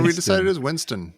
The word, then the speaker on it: Winstone: I don't even feel bad anymore that Tom and I were mispronouncing the actor's name. Oh, see, Which I one? like Ray Winstone. Ray what do we Winston. decide it is? Winston.